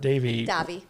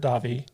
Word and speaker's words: Davi: And Davy, Robert Davy. Robert Davi. Joe Flanagan corrected me on that pronunciation.